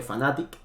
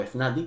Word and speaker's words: Fnatic: League of Legends fue Fnatic, o Fnatic, como lo quieras pronunciar, y su gran capitán